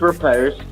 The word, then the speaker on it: riposte: spin to do the riposte or repost. I don't know. Yeah. Is it a long O or a short O? What do we do here? It's riposte.